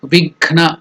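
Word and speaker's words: विघ्न: The pronunciation of this step is Divya, celestial, Vighna, hurdles, Nivaranam, removal. So together Divya Vighna Nivaranam. So that Gha is Mahaprana, not Ga. Gha.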